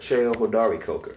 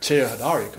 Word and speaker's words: Cheo Hodari Coker: Cheo Hodari Coker. Cheo Hodari Coker. Yeah, Cheo. Yeah, you got to pronounce it. Pronunciation. Cheo Hodari Coker.